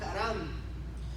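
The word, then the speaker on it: חרם: La palabra que en hebreo se pronuncia así como está ahí, haram.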